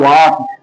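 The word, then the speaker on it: walk: लिए होता है बेटा वाक डब्ल्यू ए एल के एल साइलेंट होता है वॉक नहीं कहते हैं वाक वाक का मतलब होता है बेटा चलना उसी तरह से वह तेजी से दौड़ता है।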